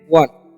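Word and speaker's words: one: ओ एन ई है तो इसमें पढ़ते हैं वन।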